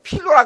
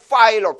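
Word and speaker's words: Philo: P-H-I-L-O. P-H-I-L-O. 한국에서는 필로라 그러더라고요. 근데 발음을 파일로. P-H니까 F 발음이에요. F. 파일로.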